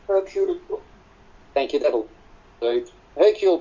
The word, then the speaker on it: Hercule: 5 killings later, and the inimitable how do you pronounce Hercule in French? Hercule.